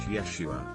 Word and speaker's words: Yeshua: yacht oh my god jesus is actually pronounced yeshua i doubt he would